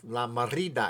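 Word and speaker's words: La Mirada: You have to say it like La Merida.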